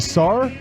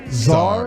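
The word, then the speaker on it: Sarr: say his name right is it Sar Zar it's the Zar of Russia Zar s a r r right SAR no Z just an S SAR yeah SAR SAR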